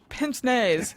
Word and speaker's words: pince-nez: Pince-nez, yeah. It looks like you should have a more pinched pronunciation, actually. You I know, because it's pinching A. Yeah. No, it's pince-nez.